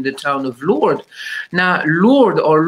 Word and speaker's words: Lourdes: Now, Lourdes, or Lourdes, as it is pronounced in the Philippines, is a girl's name because they are Christian.